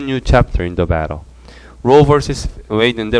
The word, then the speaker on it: Roe v. Wade: Roe vs. Wade인데 Roe vs. Wade라고 읽고 vs는 versus잖아요. s를 빼고 Roe v. Wade라고 읽기도 합니다.